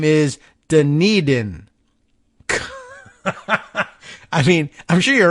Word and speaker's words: Dunedin: after you know someone else's town so the pronunciation could be anything but Dunedin d-u-n-e-d-i-n Dunedin uh I guess we might have